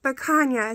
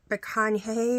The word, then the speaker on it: picanha: And yes, people pronounce it picanha, so it sounds like there's a Y in there. Picanha or something is what I would think it would be pronounced like hay or picanha or something, but it's picanha.